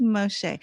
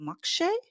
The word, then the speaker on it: Moxché: actually asked around and it's actually the Mayan pronunciation do you remember Miguel when we tried to ask you like how do you pronounce this so it is Moshe but some people do